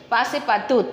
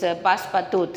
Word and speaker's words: Passepartout: will be talking, this Passepartout. His name is Passepartout, okay. So the pronunciation is the pronunciation should be in a French language, okay.